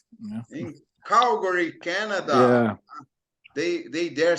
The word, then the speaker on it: Calgary: Calgary. In Calgary, Canada. Yeah. They dare say Calgary. Horrible. What Calgary. Horrible pronunciation.